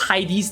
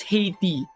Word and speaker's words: Heidi: it's not pronounced as haiti that was how i pronounced it in the road map of atlantis video until i realized no it's not haiti it's heidi and then casually casual